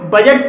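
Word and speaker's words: budget: पढ़ा जाएगा बजट बजट में भी डी के बाद जी ई आया है और यहां पर डी साइलेंट है और इसलिए इसे बजट पढ़ा जाएगा लेजर लेजर में भी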